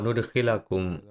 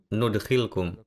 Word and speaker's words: nudkhilkum: menjauhkan darimu keburukan-keburukanmu, wa nudkhilakum, kata ini adalah nudkhilkum. Terlihat seperti ada tanda zabar di sini, dan itulah sebabnya sebelumnya saya telah salah membacanya. Wa nudkhilkum mudkhalan karima, dan kami akan memasukkanmu ke tempat yang mulia.